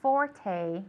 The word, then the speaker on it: forte: Okay, it's got the long E at the end. Forte.